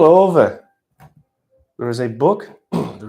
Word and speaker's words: Ove: You can say A Man Called Ove, but it's actually pronounced Ove. It's Swedish, as mentioned.